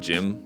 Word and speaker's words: GM: it including in Japan I think most people call it gym that's how it's spelled actually out in Katakana so that's what I've